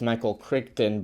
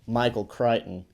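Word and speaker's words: Michael Crichton: o n so people might perhaps think it's pronounced Michael kton but this juggle is putting you up on some knowledge right now so you won't make the mistake it's Michael kryon so put that knowledge in your brain stem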